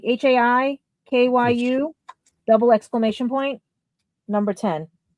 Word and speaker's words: Haikyu: It is H-A, like high, like HAIKYU, double exclamation point, number 10.